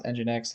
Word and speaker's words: nginx: stable version of nginx that's pronounce nginx it's spelled n g i n x November golf Indigo November